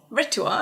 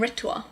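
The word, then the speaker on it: R'tuar: Ritua, okay, yep. Yeah, so cool. Yeah. I am Ritua.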